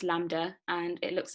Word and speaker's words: lambda: known as lambda um oh yeah it's just pronounced lambda and it looks like a bit like a